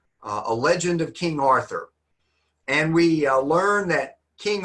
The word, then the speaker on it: Arthurian: Now in the United States, we pronounce it just like that, Arthuran. But in England, sometimes they don't say Arththeran. They pronounce the th just like a t. So British people might say arturan legend.